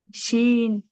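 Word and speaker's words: شين: শিন। শিন। তিন আলিফ টেনে পড়তে হবে।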